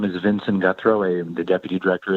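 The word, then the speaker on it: Guthreau: may begin hello uh my name is vincent guthro i am the deputy director at the nevada association of counties my name is spelled vincent v-i-n-s-o-n my last name is guthro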